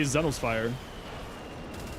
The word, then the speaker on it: Zenosfire: I say Zenosfire. I actually hard pronounce the O.